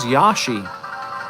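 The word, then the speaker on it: Yoshi: Sounds like he actually says Yashi. I think people have been saying it wrong the whole time.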